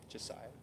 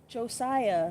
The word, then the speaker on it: Jasiah: Josiah. Josiah. Josiah. Josiah. How do you spell it?